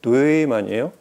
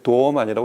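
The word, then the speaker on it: Dohmann: 이게 한글표로 그냥 도어만 이렇게 부르는데, 이 출신이 독일 쪽이라서 정확한 발음은 뇌만이에요. 근데 이제 발음도 어렵고 일반적으로 기억할 수 있는 이름을 이제 도어만이라고 이렇게 부르는데, 마크 뇌만이라는 분이 설립한 회사죠.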